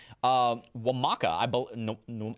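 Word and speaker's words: Nwamaka: we met on stream, Wamaka. I think it's Wamaka. I think the N is Wamaka. The N is silent, I think. It's subtle. It's there. It's subtle.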